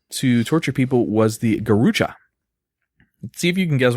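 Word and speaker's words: garrucha: of the ways to torture people was the gucha see if you can guess what a gucha was it's spelled g a r r u c h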